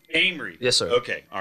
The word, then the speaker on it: Amory: Amory. Amory.